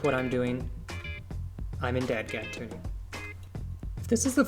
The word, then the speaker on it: DADGAD: to be tuned to d a d g a d dadgad just like it's spelled so this is what